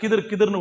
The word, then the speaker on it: ஹதிர்: ஹதிர் நான் சொல்றேன், அது நீங்க ஹிதர்னு கேள்விப்பட்டிருப்பீங்க, ஹிதர் அப்படின்னு கேள்விப்பட்டிருப்பீங்க. சில பேர் அதை தான் கிதிர்னு கூட சொல்லுவாங்க. அவருடைய பெயரின் சரியான உச்சரிப்பு என்பது ஹதிர் அலைஹிஸ்ஸலாம்.